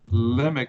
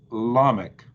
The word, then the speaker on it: Lamech: word of a verse, they would accent, or they would change the short vowel on that accented syllable to a long vowel. So Jared would become Jared, and Lemech would become Lamech.